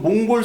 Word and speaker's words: 몽골: 내몽골 자치 그죠 여러분 몽골 사람한테 몽골라 하면 안 돼요 예 몽고는 낮춰 부르는 말이에요 몽골라 보게 예 고라고